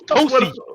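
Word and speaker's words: Tosin: Yeah, that's how we pronounce Tosi in Nigeria, man. We don't say no. What about that? What about the IN? Get that fucking English in out your fucking Yeah. mouth. It's Tosi. What the fuck is? So what the fuck is the IN there? Y'all Nigerians is wild, man. We don't fucking pronounce that in.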